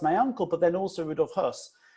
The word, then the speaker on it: Höss: Now remember, Rudolf Höss, in English it's spelled H-O-E-S-S. That's not the same as Rudolf Hess.